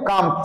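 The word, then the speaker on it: calm: smile what কাম face মানে কাম সি এ এল এম দেখো বানানটা কি আছে সি এ এল এম কাম বলবে না কেউ কি বলবে কাম বলবে বাংলায় আমি লিখে দিচ্ছি কাম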